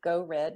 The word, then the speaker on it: GEAUXREDD: I go by Go Red, which is spelled GEAUXREDD.